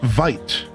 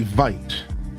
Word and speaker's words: vite: You you wouldn't say vite, right? You wouldn't pronounce it that way. But that's interesting. H I've never seen that word before. It would be vit vit vit vit.